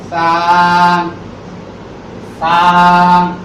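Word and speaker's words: ث: সা সা। এটির উচ্চারণের স্থান হচ্ছে জিহ্বার আগা সামনের উপরে দুই দাঁতের আগার সঙ্গে লাগাইয়া নরম আওয়াজ দিয়ে একালিক টেনে বলতে হবে।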